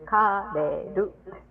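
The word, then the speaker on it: カレル: But when you put it into Japanese characters, it's kareru.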